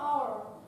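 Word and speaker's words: hour: Есть еще слово our. В этом слое вообще H не произносится.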